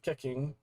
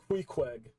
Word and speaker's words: Queequeg: Okay, someone in the Discord told me it's pronounced Queequeg.